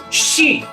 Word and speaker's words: ski: palabra se pronunciaría sh la combinación sk también se pronuncia como una sh por ejemplo que hay más típico de Noruega que el Ski Pues bien en noruego no se pronuncia Ski se pronuncia shi de